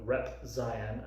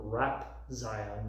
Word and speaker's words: Rep Zion: Apparently this entire time I'm calling him Rap Zion, not Rep. He still said it wrong! It's Rep Z on.